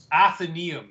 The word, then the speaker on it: Athenaeum: Athenaeum is how you pronounce it.